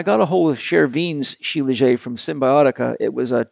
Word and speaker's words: shilajit: use it you know sheila jade is uh you can pronounce it any way you want i like shilajit it makes me want